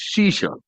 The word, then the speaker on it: Ashish: For Punjabis, my name is Shisha. A is silent. Just like it's not knowledge, it is knowledge. Same way, it is not Ashish, it's Shisha.